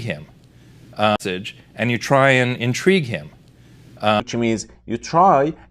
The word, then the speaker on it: intrigue: As a verb, it's intrigue. Intrigue.